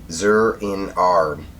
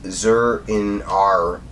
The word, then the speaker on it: Zur-En-Arrh: Okay, so the second story, and I have to look at it to say it right, Zur-In-Ar.